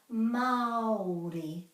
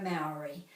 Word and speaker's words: Māori: Māori. Te reo Māori. And Māori has a macron over the A, so that means this is extended.